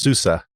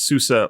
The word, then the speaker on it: SUSE: u e is pronounced Susa it's like the song it rhymes with Appaloosa n not the people I hang out with uh according according to the project themselves it's Susa like the American band